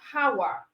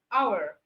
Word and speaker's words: hour: and then our no how okay our the H is also silent all right then we